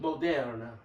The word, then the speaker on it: Moderna: You swap out the A for an E, or you can say it like a Frenchman and keep the E. Moderna. Like a Spanish E. Yeah. It sound A.